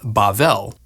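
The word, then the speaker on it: בבל: Babylon in Hebrew is pronounced Bavl and is sometimes translated Babel. Bavl comes from a root word that means to mix or confuse.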